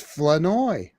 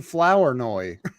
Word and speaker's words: Flournoy: I believe I would pronounce it is it Flournoy? It's Flanoy. Flanoy. I kept saying Flournoy. No, not Flournoy.